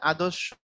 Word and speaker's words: আদর্শ: এখন রেফের পরে যদি ব্যঞ্জন বর্ণের দ্বিত্ব হয় তাহলে উচ্চারণটা হবে আদর্শ ছেলে, অর্থাৎ তালব্যস্বরটা দুইবার হয়।